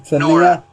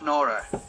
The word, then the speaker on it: Nora: How you pronounce it? Nora. It's Nora.